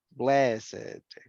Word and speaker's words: blessed: Yes, en este caso lo vamos a pronunciar con esto, con it, aged, blessed, crooked, naked, wicked, and wretched. Con esto, con ed.